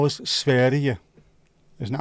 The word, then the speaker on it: Sverige: How was Sverige? Isn't that how I pronounce it? Sverige, I think.